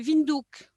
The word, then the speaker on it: Windhoek: Sa capitale, c'est Windhoek, mais il paraît qu'il faut prononcer Windhoek.